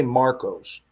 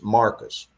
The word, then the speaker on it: San Marcos: So we don't say Marcos. It's Marcus. Marcus, San Marcos, Texas. Yeah. Yes. Yeah. It's when somebody lives down there, they live in San Marcos.